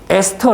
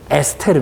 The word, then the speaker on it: 에스테르: 그림 있죠 그림의 보면은 에스터 라고 나와 있어야 스터 에스터 라고 나와있는데요 걸 발음을 한국식으로 발음을 쭉 해주면 에스테르 입니다 co 거라 그래서 그 제가